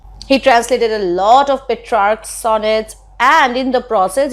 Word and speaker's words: Petrarch: That is how he is pronounced in English, Petrarch.